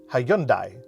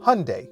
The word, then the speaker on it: Hyundai: Certains disent Hi-yun-dai, d'autres disent Hi-yun-day. Je dis Hyundai, comme dimanche, parce que c'est comme ça qu'ils veulent que ça se prononce. Hyundai a même fait toute une campagne du Super Bowl à ce sujet en 2009 et ils l'ont également rendue officielle sur Twitter.